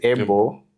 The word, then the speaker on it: Abel: So it's actually pronounced Able. But when I go to like government places or technical places where the name has to be spelled right when I say Able they write the other one.